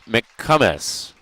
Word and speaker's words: McComus: for the Wolves Grant mccomus a listen for the actual pronunciation and I did get it right momus that'll bring Brady Holland